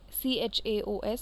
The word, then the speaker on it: chaos: people call it chaos the CH here is pronounced as Cur English me same um letters pronunciation different context about different difference c-h-a-o-s is pronounced as chaos next word is word